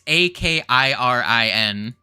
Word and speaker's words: Akirin: Is it Akirin or is it Akron? I don't fucking know. Because there's two I's in there. It's Akirin. I'm pretty sure. That's how it's spelled.